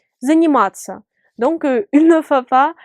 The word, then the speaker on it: заниматься: Et cette combinaison de lettres se prononce comme tsa, tsa, tsa, comme pizza. Заниматься.